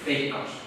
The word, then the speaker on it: Veikkaus: Veikkaus.